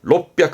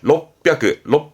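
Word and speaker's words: 六百: 발음은 롭백입니다. 롭백. 이때는 비읍쯤 되면 되겠다. 받침을. 롭백. 그렇죠.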